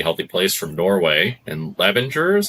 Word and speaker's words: Levanger: I think you came from a pretty healthy place from Norway, and Levanger is how you say it, in a small town.